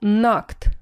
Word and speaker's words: knocked: кто-то что он сделал knocked постучал kock - это стучать Обратите внимание что K не читается on the door в